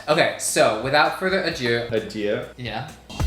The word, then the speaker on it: adieu: Adieu.